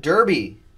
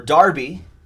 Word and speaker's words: Derby: AJ Derby. Or Darby. That would be the British English pronunciation. Darby.